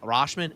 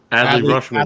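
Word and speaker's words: Rutschman: So, their catcher, uh, Rosh Rashman, is that how you pronounce it? Rushman. Adley Rushman.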